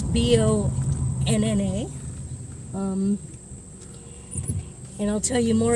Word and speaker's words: Bona: College campus, including the Bona Thompson building, or Bona Thompson. There's still a little bit of discrepancy on exactly how to pronounce the name. It's Bonna.